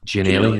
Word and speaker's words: Ginnelly: Gianelli, is that what it is? Aye.